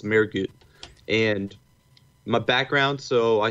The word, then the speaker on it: Mehrguth: It's Mehrguth. So the H is silent because it's a German last name, so it's Mehrguth.